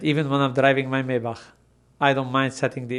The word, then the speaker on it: Maybach: so please help me is it maybach or maybach or japan german is maybach but it's fine okay